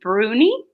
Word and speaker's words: Bruni: might say it wrong is it is it Bruni perfect think you're very good I might as